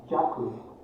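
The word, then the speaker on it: 寂: The last character is pronounced as jaku, meaning tranquility.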